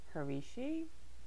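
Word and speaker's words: Hercai: episode next up we have harvey she rehearse harishi yeah there's no english translation guys so there's no english translation it's spelled h e r c a a i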